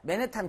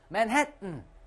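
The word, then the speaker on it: Manhattan: 이거라 그래가지고 와 마운테인 선생님 아니야 마운틴 이건 절반 따라하세요 마운 그렇지 이렇게 발음해야 돼요 그리고 미국의 맨해탄 있지 않습니까 맨해탄 극혐 맨해튼 그리고 이 버튼도 단추 버튼 어떻게 해 버튼 그렇죠 잘했어요 이상 원어민 되는 발음이었습니다 발음법 제가 종종 가르쳐 드릴게요.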